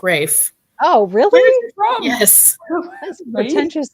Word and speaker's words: Ralph: name is yeah yeah it's Rafe oh it's Rafe what yeah I always think his name was Ralph spelled Ralph but it's pronounced Rafe oh really yes that's